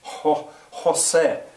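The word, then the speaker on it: José: An initial J, if a word begins with J, like Jose, well, it sort of has the sound of an H, an aspirated H. Jose.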